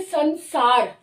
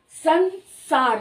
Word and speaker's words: संसार: इसी तरह से संसार, संसार, स दांत के पीछे से आ रही है, स की उसका उच्चारण स्थान दांत है, तो अनुस्वार का उच्चारण स्थान भी दांत ही होगा, तो इसलिए इसकी जो साउंड संसार, न साउंड आ रही है, संसार।